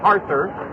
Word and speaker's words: Harther: We know they're here this afternoon, and we've been mispronouncing Cody's last name. It's Cody Harther.